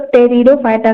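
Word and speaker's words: Pteridophyta: ब्रायोफाइटा जिनो sperm या टेरिडोफाइटा तो इस इस जगह प पी जो होता है वो साइलेंट होता है इसका प्रोनंसिएशन जो है वो हम लोग टेरिडोफाइटा करते हैं तो एंफीबियन प्लांट जो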